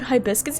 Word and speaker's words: hibiscus: I've heard nothing about hibiscus. Yeah, that's how I pronounce it. Hibiscus. I'm I'm very confident that's how everyone around me pronounces it. Hibiscus. Like hibiscus tea.